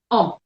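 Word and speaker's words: homme: i know the man man in french is um but the head is silent so and the definite article for it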